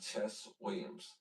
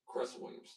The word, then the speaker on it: Cress Williams: Glenn Sherman, Clarence Williams III, Michael Ralph, and Chess Williams. This movie is called Cress. I said it right. Chess Williams. Cress Williams.